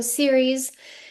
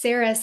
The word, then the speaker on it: Ceres: So Siri, it's so funny because Jen and I were both like I feel like it's Saras. I think I think some folks in in Europe say Saras, but Americans say Siri, but it does sound weird.